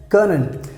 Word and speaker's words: können: How we pronounce können. Können.